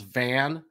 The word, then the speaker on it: Vandevelde: It's Vandevelde, which doesn't look like it.